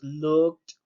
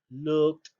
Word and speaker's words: looked: Entonces la terminación ed la vamos a pronunciar como una letra T. En este caso tenemos held, held. Tenemos looked, looked.